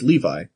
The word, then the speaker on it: Levi: It's like, no, you call him Revi because it was a manga and you didn't have like a you you weren't able to hear the way it's supposed to be pronounced. Yeah. So, you just went with Revi because you're stupid. But then then you can hear people say it out loud and oh, it's Levi.